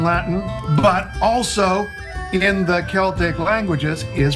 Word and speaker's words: Celtic: And so, while we've adjusted our pronunciation of the word Celtic when talking about music or language or culture, it should be no surprise that the two places the legacy of Celtic with a soft C live on is with